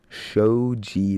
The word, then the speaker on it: Shoji: Next up, we got Shoji. Shoji, that's how you say it.